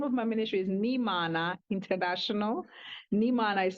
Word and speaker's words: Nhimana: Yes, the name of my ministry is Nimana International. Nimana is spelled as NHIMANA.